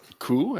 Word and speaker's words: coup: Coup, as in a coup de main, like punching. Grâce, as in grace.